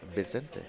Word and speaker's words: Vicente: Vicente. Vicente, yeah. And you got to make your V sound like a B.